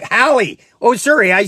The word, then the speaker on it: Halle: It's pronounced Haley, like Haley Berry. Oh, like Halle. Oh, sorry, I say it wrong all the time. Halle Berry. Thank you, Halle. I call her Haley all the time, and it's Halle.